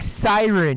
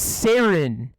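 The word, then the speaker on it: Saryn: i like so much you're saying siren it's sarin i pronounce it that's not correct that's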